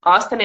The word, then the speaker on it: Austin: é só para facilitar para vocês anotarem Veda ostin Austin a u s t i n tá Então